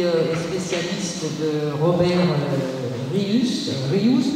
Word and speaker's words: Rius: spécialiste de Robert Rius Rius mattend dit fallait prononcer en catalan euh on remercie bien